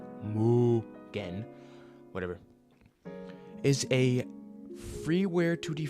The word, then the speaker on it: MUGEN: Muggan, also known as Mugan, uh, pron pronounced Mugen, like Mugen, whatever, is a freeear 2D fighting game engine developed by Electite.